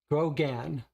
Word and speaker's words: Grogan: it's fun paul says the way you pronounce my last name is grogon grogan grogan grow again all go again um